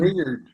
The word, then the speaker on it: Wingeard: And how would you pronounce it again? Wingeard. Wingeard.